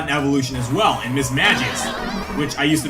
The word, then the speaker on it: Mismagius: Misdreavus also got an evolution as well in Mismagius, which I used to mispronounce as Mismagius.